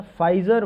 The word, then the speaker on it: Pfizer: इसी तरीके से कल मैंने एक बताया था फाइजर vaccine, PFIZER, P silent था उसमें, ये UK के द्वारा लॉन्च किया गया है।